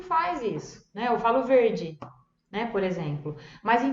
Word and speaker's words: verde: Eu coloquei duas palavrinhas simples, uma exatamente igual em português, que é verde, verde, però a pronúncia é diversa. Então tem o R que a gente tem que prestar atenção e o D, verde, que em português a gente fala verde, né?